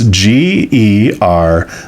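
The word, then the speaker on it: Géricault: Let me spell the name because I'm sure I mispronounced it. It's Gericault.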